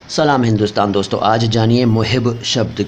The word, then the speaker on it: محب: उच्चारण मोहब नहीं बल्कि मसब है मसब लेकिन आपको इस तरह से बोलने की जरूर नहीं है क्योंकि उर्दू में अरबी के अंदाज में नहीं बोला जाता लिहाजा मैं मोहिब का